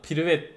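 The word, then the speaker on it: привет: bir dakika bakacağım ha privet diye okunuyormuş privet Asya Evet buradan selam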